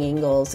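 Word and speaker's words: Ingles: Here's your Ingalls Market. So this is gonna be the big market for East Asheville, the hub anywhere really in Asheville. It is pronounced Ingalls, and it does have a wide variety of food.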